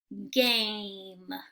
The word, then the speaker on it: game: G, A, M, game.